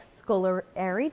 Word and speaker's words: Scolieri: Scolieri, did I say it right? Scolieri, yes.